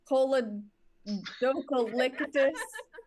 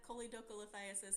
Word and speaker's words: choledocholithiasis: If I miss you, it's in Anis Secoria, Colodocalictus, and Ramadoma Mama Limis. The actual pronunciations, Abby. Anisocoria, choledocholithiasis, and rhabdomyolysis. Nailed it.